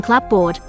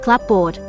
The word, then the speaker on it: clapboard: SL kbd back slash but cupboard is a more common word than clapboard and that may help explain why the slurring loss of the P sound occurred more completely and perhaps at an earlier date with cupboard than with clapboard the completeness of the